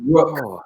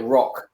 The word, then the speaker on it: Rök: Our pronunciation's not always right, but we get in there. Yeah, definitely. I said rook as I called it rock for a year, well, probably 14 months or so before I was corrected.